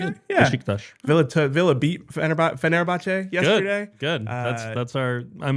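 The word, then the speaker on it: Fenerbahçe: Turkish pronunciation. You did well yesterday. Fenerbahce? Fenerbahce.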